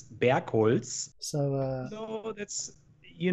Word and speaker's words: Bergholz: from chamfer zone because nobody knows how to pronounce my last name you know like it's bear coils so uh so that's